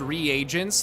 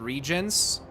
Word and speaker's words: reagents: It's pronounced reagents, not regions.